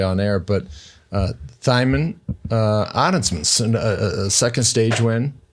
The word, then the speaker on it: Thymen: It rhymes with Simon and another word that feels weird to say on air, but uh, Thimon uh, Addinsman second stage win uh, for him, second stage win for Inos.